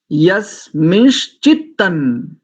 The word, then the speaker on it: यस्मिंश्चित्तं: और दूसरा देखो, दूसरी पंक्ति का प्रथम शब्द देखो, यस मिश नहीं बोलेंगे, यस मिंश। अच्छा, इसको इंग्लिश में प्रोनाउंसिएट करके बताता हूँ कैसे इसका उच्चारण करेंगे। YES, यस, MINSH, मिंश, यस मिंश चित्तन। यस्मिंश्चित्तं miss नहीं, मीन्स, मीन्स, MEANS।